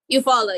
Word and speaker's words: Eufaula: They need to slap a warning on this one because this is going to come into Eufaula. Is that how you say it? Eufaula? Eufaula, yeah.